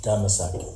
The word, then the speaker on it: Damascus: The real pronunciation for Damascus is Damasak.